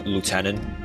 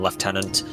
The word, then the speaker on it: lieutenant: as you go look a lot of media will just use lieutenant but the official army terminology would have been left tenant despite it being spelled the same that's Americans for you that's the only Yeah.